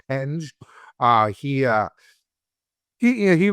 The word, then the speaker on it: Penge: Marco Pang P or uh Penge is how you pronounce it. We're going to have to remember that. It's Penge.